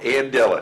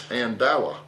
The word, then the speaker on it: Andala: still say andela andela did I say it right no andela you say an andela Andel it's andala andela folks this will